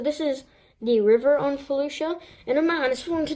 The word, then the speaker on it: Felucia: or fuchsia but um it's actually Felucia like that's how you pronounce it that's how the clone guy says it well yeah so we